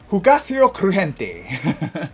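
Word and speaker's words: Hugáceo Crujiente: Hugaceo Crujiente. Oh, I pronounced that right.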